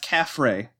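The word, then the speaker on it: kafir: ] fascinating interesting comes from the Arabic word kefir or pronounced calf Rey in Spanish okay makes sense which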